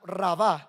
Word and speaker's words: rabá: La palabra multiplicar, esa palabra en hebreo es rabá, así con doble e en con acento en la segunda rabá.